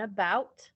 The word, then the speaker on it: about: a as they sh the schwa at the beginning of the word like in about or at the very